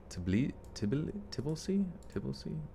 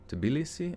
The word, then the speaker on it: Tbilisi: Tbilisi? Tbilisi. Tbilisi? Oh, it literally is pronounced like how it's spelled.